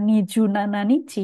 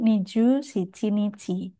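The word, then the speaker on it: 二十七日: Yang tanggal 27 sebetulnya dibaca nichi juga sih, tapi di sini saya berikan highlight karena cara bacanya bukan Niju Nana Nichi, melainkan Niju Shichi Nichi.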